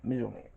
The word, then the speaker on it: Mjolnir: One of the biggest moments for me was the enchantment for Mjolnir. Yes, that is how you pronounce it, Mjolnir.